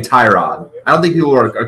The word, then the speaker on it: Tyrod: Well, not the case yet because Cleveland has committed to Tyrod Taylor as the starter.